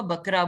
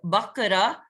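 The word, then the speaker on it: بقرة: इट इज नॉट बकरा बल्कि इट इज बाका, बाकारा, बाकारा, ठीक है।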